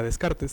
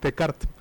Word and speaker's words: Descartes: y particularmente la identifica descartes, descart de cart, mejor dicho, si se quieran poner muy muy puristas con la pronunciación.